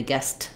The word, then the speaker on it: guest: there as I link so the difference there between guest and guest is not always whether you hear a t sound it's how we link those and how it sounds if I'm saying I